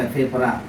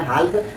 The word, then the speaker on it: half: HALF, यहाँ हाफ पढ़ते हैं, हाल्क नहीं पढ़ते हैं, क्योंकि एल के